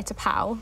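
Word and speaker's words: T'Pau: excerpt 3 is China in your hand by toow I I pronounced that right yes you know that is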